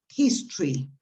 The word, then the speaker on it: history: to pronounce that word you write his story but when you pronounce it you eliminate the o so what you actually pronounce is history history not history okay history well that